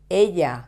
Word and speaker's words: ella: These words, la mañana, la tarde, ella, do you remember these words? We have studied them in other lessons. La mañana is the morning. La tarde, the afternoon. Ella is the personal pronoun, she. So, they end in vowel. So, they should be stressed on the penultimate syllable.